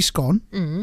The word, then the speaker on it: scone: I say Scone, so it rhymes with gone, right?